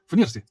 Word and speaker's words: FNIRSI: This is the correct naming, how to pronounce it. FNIRSI.